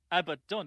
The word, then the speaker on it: Abaddon: But it does seem like Abaddon is winning the poll quite significantly right now with a bad one. Because it's correct. Abaddon is correct.